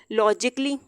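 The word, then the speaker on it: logically: अब ए यहाँ पे प्रोनाउंस नहीं किया जाएगा। लॉजिकली।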